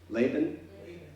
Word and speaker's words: Laban: Laban? Laban with a long A.